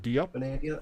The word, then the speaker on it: Grenadia: in there got some grenadia grenade grenadia that's how it's pronounced uh the top side